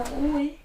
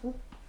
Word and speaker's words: roue: La rouée. La roue, le E au féminin ne se prononce pas, on dit la roue.